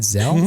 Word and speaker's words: Zelle: Zelle? Zelle.